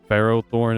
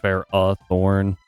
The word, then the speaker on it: Ferrothorn: I feel like it was uh Ferrothornne is pronounced Ferrathorn.